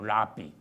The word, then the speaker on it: 랍비: 그 랍비는 히브리어 본래 그 원음 그대로 가지고 온 발음이에요. 랍비.